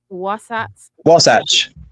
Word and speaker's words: Wasatch: Wasatch? Yeah, that's it. One of those. Well, one of those. We'll go with that. What is that, Muppet? Wasatch.